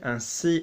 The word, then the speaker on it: ainsi: So we're looking at AIN as un, okay? Unless we have an E after it, like certaine or semaine, we're obviously going to be pronouncing that like an un.